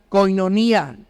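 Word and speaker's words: κοινωνία: que la hemos escuchado muchas veces que se pronuncia koinonía.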